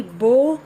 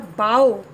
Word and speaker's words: bow: For example, BOW can be bow, the weapon, or bow, that is to bend.